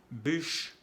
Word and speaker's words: bûche: Bûche es la leña, bouche, la boca, y bouge, que es mueve. El sonido U, que hay que pronunciar bien porque hay el acento circunflejo. Bûche.